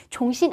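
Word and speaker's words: 重新: 종신 안파이, 안파이라는 표현은요. 안배하다, 배열하다라는 동사입니다. 앞에 종신이라는 표현, 쫑이라고 읽으시면 안 돼요.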